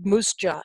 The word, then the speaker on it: MUSJA: introducing Ashley Haran, who's the Executive Director of MUSJA, as the acronym is pronounced.